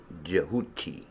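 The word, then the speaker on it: Tehuti: at the law of kehuki here is spelled t-e-h-u-t-i but you may see it also with a d at the beginning jehuti and I actually named my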